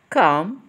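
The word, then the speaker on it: calm: اب بيوتي فل اند كوم بليز كوم يعني هادئ ولاحظ حبايبي النقام اولا اللي سايلنت ما بتتنطقش وهي كمان بتساوي كلمه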